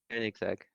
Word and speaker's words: Koenigsegg: Koenigsegg. Yeah, Okay. I think people pronounce the e a bit more, Koen or Koenigsegg or something.